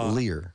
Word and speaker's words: Lehrer: search engine uh tom lehrer uh l-e-h-r-e-r lear but lehrer yeah um a lot